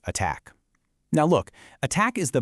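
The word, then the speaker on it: ATT&CK: And remember, that's pronounced attack.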